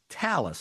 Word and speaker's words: Thales: It's pronounced Talis. Is that right, Blair? 100% bang on get that pronunciations are are all in order today.